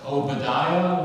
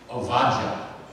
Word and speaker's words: Ovadiah: the Bible, you know it as Obadiah, right? Correctly pronounced Ovadiah. Ovadiah is a composite word. The first part of Ovad is the same as Eved, meaning servant, and Yah stands for Yahweh, one of the ways to pronounce the Tetragrammaton.